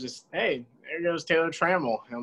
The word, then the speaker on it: Trammell: so here it is my name is pronounced trammell it stinks because there's a hall of famer the same last name as me and he pronounces it trammell so i just got the bad end of the stick i tell my favorite